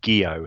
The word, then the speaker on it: Gio: They've just messaged me to say it's actually pronounced Gio, so it's Gio.